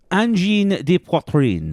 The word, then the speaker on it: Angine de Poitrine: How do you pronounce this? Angine de Poitrine.